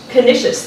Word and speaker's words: Canisius: And he earned his bachelor's degree from, I should have reviewed my pronunciation. Canisius, thank you.